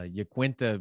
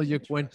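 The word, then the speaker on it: Iaquinta: ufc 223 had uh uh yakuenta because that is how you pronounce the names start spreading the news and telling your friends al jaquenta is how you pronounce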